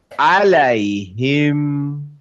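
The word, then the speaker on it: عَلَيْهِمْ: আলাইহিম, আলাইহিম। দেখেন মিমে কিন্তু নাক দিয়ে আসবে, আলাইহিম, আলাইহিম, আলাইহিম উনজিলা, উনজিলা।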